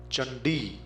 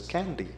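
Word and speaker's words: चण्डी: a completely different thing chandi the name of devi c-a-n-d-i you are bound to pronounce it as candy which is totally different from chandi chakra becomes kakra gatcha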